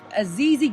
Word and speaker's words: Azizi: So without further ado, I have AZIZI Gibson on the phone.